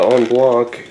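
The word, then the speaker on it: en bloc: move on to the on block and yeah that's how it's pronounced again uh that is it's a French word and it actually means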